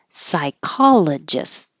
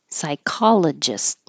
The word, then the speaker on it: psychologist: Psychologist. Hold the final T. Psychologist. This one, psychiatrist.